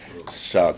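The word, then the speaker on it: chas: Ça se dit, chat, comme le dirait l'autre, s'écrit C-H-A-S, le trou d'une aiguille.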